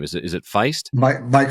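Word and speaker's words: Faist: And I don't know how to pronounce Mike's last name. Is it Feist? Mike Feist.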